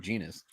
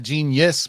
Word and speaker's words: genus: genus all right everybody we're going with genus not genius but genus yes I could